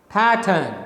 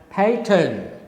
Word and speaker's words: pattern: r n this word pattern there are two syllables pay turn pay turn okay so the first syllable is stressed second syllable is unstressed so you should speak